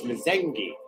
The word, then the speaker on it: Mzengi: You see, it says, David said the M is a silent. My last name is an African name. So it's Mzengi.